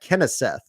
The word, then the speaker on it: Kenseth: The proper pronunciation of his name is Matt Kenseth. It's almost like Kennesaw Mountain Landis, the old Supreme Court justice.